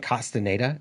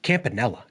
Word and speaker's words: Campanella: Uh, I think I'm I think I'm saying Costanada. It's Campanella. Campanella is the guy that we drafted.